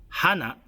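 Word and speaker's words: 花: Because the pronunciation of the Japanese word for flower, hana, is exactly the same as the word for nose, hana.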